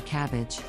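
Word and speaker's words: CABG: A surgical procedure that is pronounced like a cabbage.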